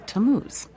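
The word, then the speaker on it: Tammuz: It's pronounced Tamuz.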